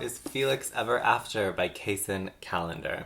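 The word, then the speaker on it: Kacen: felix ever after by cason calendar i've been pronouncing their name cassin in all my videos leading up to this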